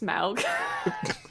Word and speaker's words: Smaug: It's pronounced Smaug.